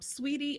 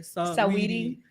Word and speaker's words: Saweetie: So I'm a little hurt that Sweetie and Quavo broke up. I'm a little hurt by that. Now I'm sure y'all know Sweetie and Saweetie. Let me say it right. Saweetie And Quavo.